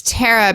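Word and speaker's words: Pterra: my brain sh it's it's Terra but it's spelled like pterodactyl like with a p yes I'll give it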